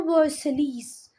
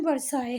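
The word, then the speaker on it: Versailles: वर्साई में। वर्साई, देखो इसको तुम पढ़ लो वर्सलीस, वर्सलीस पढ़ लो, पर इसका प्रोनाउंसिएशन वर्साई है।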